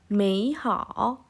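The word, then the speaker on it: 美好: Kemudian ada mei hao. Oke, mei hao. Mei nada 3, hao nada 3. Mei hao. Kalau seperti itu dibacanya terlalu panjang. Jadi kita pelafalannya dirubah menjadi mei hao.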